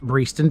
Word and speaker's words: Breaston: button let's get to today's parish video breeston pronounced breeston despite being spelt breston is a large village